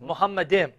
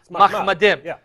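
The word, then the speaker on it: מחמדים: Now, notice how he pronounced it, Muhammadim. Yeah. More accurately, it would be Mahmadim, which comes from Mahmad.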